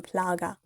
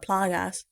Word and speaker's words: plaga: So Louise tells Ashley that this is the plagas, or the plaga. I think it's plaga, not plagas.